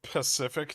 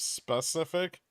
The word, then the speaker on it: specific: it just reminds me someone said Pacific to me last night instead of specific it was a really